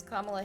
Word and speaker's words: Kamala: I'm like purposefully trying to say it wrong, but then at the same time trying to remember what pronunciation of Kamala is Kamala Harris's. It's Kamala.